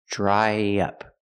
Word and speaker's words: dry up: about dry up pronunciation dry up to link the vowel I dry to the short uh in up we need a sound in the middle y y dry dry up dry up